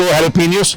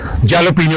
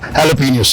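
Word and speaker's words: jalapeños: Mushroom के साथ हमने उसको हैलोपिनियोस, जिसे पाकिस्तान में जैलोपिनियो भी कहते हैं क्योंकि वो उसके साथ जे लगा शुरू में, प्रोनाउंसिएशन में ये हैलोपिनियोस है।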